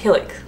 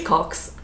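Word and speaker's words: Cocks: the name hilcox um see that could be pronounced helix or something but anyways it's cox um c-o-c-k-s the way you expect it to be spelt um now this one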